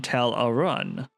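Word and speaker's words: Tel Aruun: She studied under Alfedil in Tel Aaron. That's how you're supposed to pronounce it. I don't I don't like that. I've always pronounced it Tarun.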